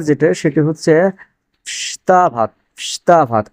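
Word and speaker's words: вставать: আচ্ছা, এখানে মজার একটা বিষয়, সেটা হচ্ছে দেখেন, ফ্স্তা ভাত, এখানে প্রথম যে অক্ষরটা আছে ভে আছে, প্রথম অক্ষরটি কি আছে? ভে আছে। অথচ এই ভে এর উচ্চারণটা হচ্ছে না। উচ্চারণটা হওয়ার কথা হচ্ছে ভেস্তা ভাত। ভেস্তা ভাত মানে কি? ওঠা বা জেগে ওঠা। তো এখানে এই ভে এর উচ্চারণ না হয়ে কিসের উচ্চারণ হচ্ছে? ভে এর উচ্চারণ না হয় এফ এর উচ্চারণ হচ্ছে।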